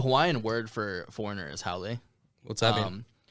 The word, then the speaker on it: haole: The Hawaiian word for foreigner is haole. What's that mean? So if you break it up by like phonetically, people, it's kind of like gone around the wheel, but it's HA and then apostrophe OLE, which means without breath in Hawaiian.